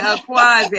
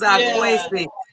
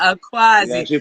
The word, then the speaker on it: Akwasi: is my name okay you pronounce it a quasi i thought it was our question but no problem we get it right now a quasi welcome brother you are